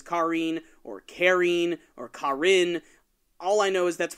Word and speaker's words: Karin: Karin? I always called her Karen for some reason. I started calling her Karin because I get a lot of crap from our fan base about pronunciation.